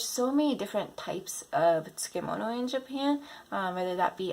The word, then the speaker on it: tsukemono: And last but not least, number 10, tsukemono, not tsukimono. Right, Tsukemono.